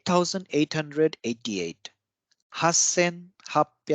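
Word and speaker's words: 八千: eight thousand eight hundred eighty eight Hassan this is a very interesting number because there are exceptions in at uh like at least two places so 8 000 is Hassan 800 is 80 is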